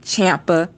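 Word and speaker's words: Ciampa: tomaso Champa and yes people that's how you pronounce it Champa it's not China because Joplin would have an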